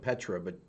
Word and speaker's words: Petra: It's spelled like Petra, but she said it, pronounced it P-A, like that, Petra.